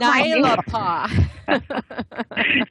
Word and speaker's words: Naelapaa: Yes, and aren't you proud we pronounced your name right, correct? And you've got Naelapaa.